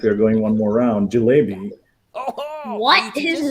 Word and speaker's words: jalebi: Do I have to pronounce it correctly? It's Jilebi.